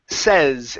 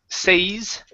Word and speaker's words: says: right let's go to says instead of say's it's mom says son's mom is good